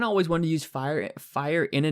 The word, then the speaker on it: Fyr: But the name WhiteFyr in general, and by the way, the last part is pronounced fire, F-I-R-E is how it's pronounced. It's not fear or something like that. It is fire.